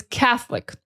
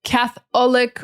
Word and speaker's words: Catholic: The next one is Catholic. Catholic. A lot of students want to say Catholic or Catholic. It is that TH sound.